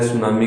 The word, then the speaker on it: सुनामी: तो ये जो दिए हुए हैं तो सभी सुनामी, पर जो सही करेक्ट स्पेलिंग है वो है सुनामी की, TSUNAMI। तो उसको सुनामी कहते हैं।